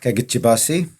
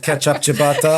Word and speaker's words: Kagitcibasi: My name is Kagibasi. It's a difficult one to pronounce. That's why I got you to introduce yourself. I know. I've been called Ketchup Chabata. I've been called Kobayashi.